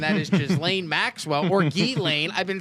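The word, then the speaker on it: Ghislaine: But it's actually Gain. Gain. I watch your documentary. You're right. Yeah. He just said Jiz just fits.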